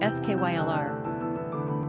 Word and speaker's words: Schuyler: Pronunciation, Skylar.